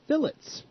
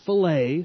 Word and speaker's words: fillet: It's pronounced fillet, it's not fillet, so please don't walk into